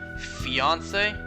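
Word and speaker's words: fiancé: There's no accent on the E, but it's pronounced fiance.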